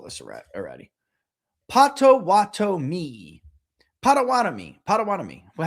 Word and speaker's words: Potawatomi: Or you're saying spread it out. Potawatomi. Like that. Say it like that. Okay. You ready? Potawatomi.